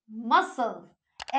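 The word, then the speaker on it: muscle: Seizures, accent, मसल, etcetera, क्या है? एसी, यानी कि सी हम लोग प्रोनाउंस नहीं कर रहे।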